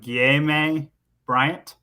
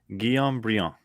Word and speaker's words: Guillaume Briand: Brian will probably get me on the pronunciation of this guy's name, but Guillaume Bryant. Oh, Gay May Bryant. Oh, God. Okay. 37. Guillaume? 37, Brian. Guillaume Briand.